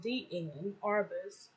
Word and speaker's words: Diane Arbus: or cloaked from high society to underworld diane pronounced d in arvis was born in 1923 okay okay 1923 she